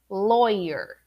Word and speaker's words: lawyer: you actually do it repeat with me lawyer lawyer now exercise of awareness when you first pronounced it yourself without my correction without my input were you right or were you wrong do you say lawy or lawyer or do you say or lauer right or do you say